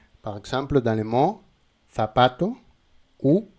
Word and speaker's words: zapato: En Espagne, nous avons le son F F. Z. Et en Amérique, on dit Z avec S. Z. Par exemple, dans les mots zapato ou zapato.